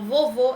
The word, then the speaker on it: vovô: vou mudar o acento então vovô é fechado eu vou usar o acento circula flexo e vocês podem fechar